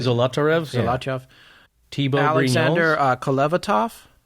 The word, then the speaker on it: Zolotarev: Zolotarev?